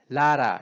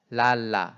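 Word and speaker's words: lala: 모르는 사이에 라라가 되는데 정확한 발음은 라라가 아니고 라 아 각각이 똑같은 라 발음 예 그래서 합해서 하더라도 랄라 이렇게 돼야 되는 거죠 한국말로 굳이 쓴다고 하면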